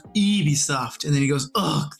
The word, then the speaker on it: Ubisoft: how do you how do you even say Ubisoft and it's like it's pronounce Eevee soft and then he goes ugh the French that's